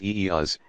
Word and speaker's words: ease: In Carne, ease, which is pronounced eeas, is added before the vowel of every syllable.